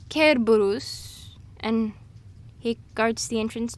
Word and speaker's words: Cerberus: you saying oh no it's it's Cerberus oh surface guards the gates of hell no it's careburus and he guards the